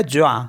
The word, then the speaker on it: joint: For example MOINS, तो इसको पढ़ते हैं मुआ, क्योंकि लास्ट का जो एस है वो साइलेंट होता है, तो मुआ। मुआ मीन्स होता है लेस। JOINT, तो ये हो गया ज्वा।